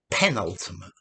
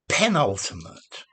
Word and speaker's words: penultimate: a series yeah so penultimate one before the last the next to the last the second to last um the one immediately proceeding so this word is accented on the penultimate syllable not the ultimate syllable